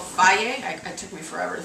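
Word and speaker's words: Fage: Greek yogurt it's called f it took me forever to figure out how to say the f a g e but it's F I believe um and so this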